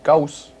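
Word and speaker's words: Gauss: Well, there's Goss, which my encyclopedia pronounces Gaus, and Orsteads or Earths,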